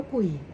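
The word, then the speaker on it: 鬼: ๆ ผี กุ่ย guui 0 3 อ่าน ว่า กุ่ย เพียง แค่ จื่อ ชื่อ Z hii เน 3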